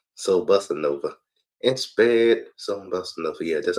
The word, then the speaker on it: Soul Bossa Nova: And spared Soul Bossa Nova.